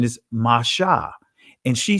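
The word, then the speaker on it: משה: became her son and she called his name masha you see moses but the ancient pronunciation is masha and she said because i drew him out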